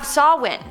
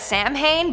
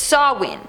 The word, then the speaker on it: Samhain: the video starting off this countdown we have sawwin which i always pronounced as samhain but apparently it's sawwin don't know how but okay anyways this was